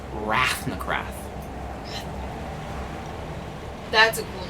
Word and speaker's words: Rathnakrath: me to tell Emma what it is it's pronounced rafnacraft that's a cool name no no no that's